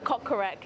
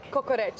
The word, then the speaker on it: kokoreç: The kokorek. Is it kokorek? Kokoreç. Kokoreç. Wow. Kokoreç. Misha's so bad with her pronunciation when it comes to foreign words.